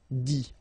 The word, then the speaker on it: dit: Okay, remember, you put this T, you don't pronounce it. Écrit, dit.